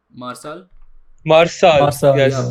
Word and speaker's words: Marçal: And speaking of Marcal, is that how you pronounce his name? Marçal? Marçal. Marçal, Yes. Yeah, Yeah. Marçal.